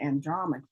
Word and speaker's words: Andromache: Google pronounces it Andromache.